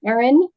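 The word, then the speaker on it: Erin: what your position is yes my name is Ain O'Neal first name is Aon e r i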